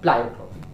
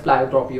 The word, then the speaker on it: pleiotropy: I don't know, but I think it's pronounced as pleiotropy only.